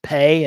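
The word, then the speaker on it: phat: The ritual will be using the mantra pay. Usually spelled p h a t but pronounced pay in its tibetan form.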